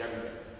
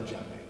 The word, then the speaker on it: djembe: So all of these drums are basically child-proof replicas of a drum called the djembe, which is a lot like the one that I have here. Djembe is spelled D-J-E-M-B-E.